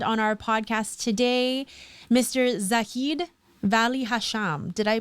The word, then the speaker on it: Zaheed Valli-Hasham: guest and friend on our podcast today mr zaheed valli hasham did i pronounce it right i know i've known you